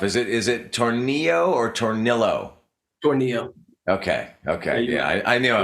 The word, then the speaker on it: Tornillo: How do you pronounce it, first off? Is it Tornillo or Tornillo? Tornillo.